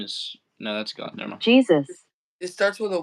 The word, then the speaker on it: Jesus: How do you go about saying it? Jesus. You do want to stress on the first syllable.